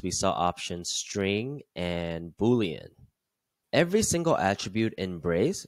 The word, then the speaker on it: Boolean: through these one by one first we have booleans and yes that is how you pronounce Boolean Boolean data can only have two